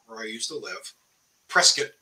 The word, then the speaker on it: Prescott: I used to live Prescott as the locals call it they they would laugh at me for calling it press God it's spelled p-r-e-s-c-o-t-t you're finished they can't